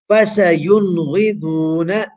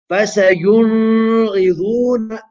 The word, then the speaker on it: فَسَيُنْغِضُونَ: Here we have again noon sākina appearing before a letter of the throat, which is ghain. Ghain. How do we pronounce the noon? We do izhar, short, sharp, and clear. And you recite this as فَسَيُنْغِضُونَ فَسَيُنْغِضُونَ فَسَيُنْغِضُونَ. How do we not recite this? فَسَيُنْغِضُونَ. Incorrect.